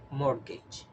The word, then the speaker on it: mortgage: loan to buy a house repeat after me mortgage mortgage Mortgage in this world we don't pronounce the letter t and the last word